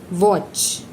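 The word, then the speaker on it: watch: वॉच, T silent है।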